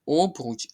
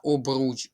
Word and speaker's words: обруч: Не обруч, а обруч. Обруч. Наголос на другий склад і закінчити.